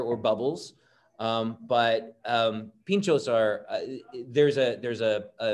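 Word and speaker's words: pintxos: eat tapas they eat what's called pinchos and it's spelled p-i-n-t-x-o-s and so a pincho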